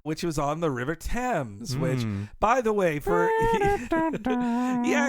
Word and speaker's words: Thames: For me and you growing up, I always thought it was Thames. You never knew that it was. I guess a parent eventually told me, no, it's Thames. It's not, but it's spelled Thames.